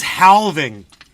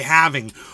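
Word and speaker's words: halving: coming towards the fourth haling of Bitcoin and we're alreadying he he says haling and I'm like bro yeah there's an L in the word half but you don't pronounce it you don't say how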